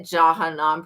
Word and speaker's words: Jahannam: Is it Jahannam pronounced with a J?